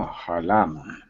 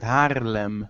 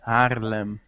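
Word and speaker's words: Haarlem: Oh, Harlem. No. No, you're not pronouncing it right. Harlem. Harlem.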